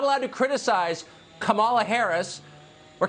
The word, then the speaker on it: Kamala: um host on Fox her name is pronounced comma like the punctuation mark La comma okay seriously I've